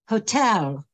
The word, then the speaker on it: hotel: Hotel. Čili přízvuk je na druhé slabice.